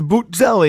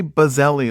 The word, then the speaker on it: Buzzelli: of people say it's boot jelly and I was like no we say bazelli like it's a bumblebee you gotta get the